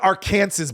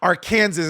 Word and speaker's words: Arkansas: in the middle of Arkansas it's pronounced Aransas by the way Aransas is how it should be pronounced and they just chant